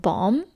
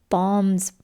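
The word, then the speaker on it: Baum: to let me know if I'm pronouncing his name wrong, but Bomb.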